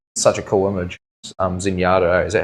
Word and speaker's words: Zenyatta: Um, Zenyatta. Is that how you say it? Zenyatta.